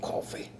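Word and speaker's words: Coffey: Mr. Joe Coffee. Like the drink, but not spelled the same.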